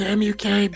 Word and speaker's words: mukbang: Oh, and mukbang is spelled M-U-K-B-A-N-G. M-U-K-B-A-N-G, yes. And it's pronounced mukbang.